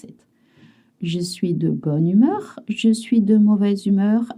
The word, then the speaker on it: bonne humeur: You notice one sound. Bonne humeur. It's to be in a good mood. Je suis de bonne humeur. You always link. You don't say bonne and humeur, it's always one word.